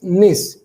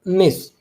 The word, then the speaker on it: gneiss: Okay बेटा, नाउ इज निस, यहाँ पर जी साइलेंट रहता है बेटा, दैट इज निस, प्रोनाउंस इट निस।